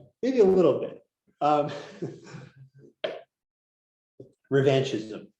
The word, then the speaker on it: revanchism: Revanchism. Okay, revanchism. Revanchisme. Pronunciation, which is always better.